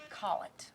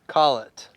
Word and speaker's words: Collett: We got Amanda Collett in the house. Hey. Did I say that right? Is it Amanda Collett? Collett. Collett.